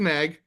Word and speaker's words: NAG: formed you mentioned um I don't even nag I think is maybe the way you pronounce it the national that's what it is it's a nag nag National Association against